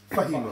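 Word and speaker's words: فهم: Fahima. Fahima. Yeah, the Fatha, Kasra, Dhamma. These are short vowels which cannot be stretched. Which cannot be stretched. So the way to pronounce it is quick.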